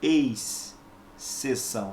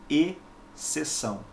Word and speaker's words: exceção: são tá você não pronuncia ex ceção não é assim é e sessão bom bem sessão com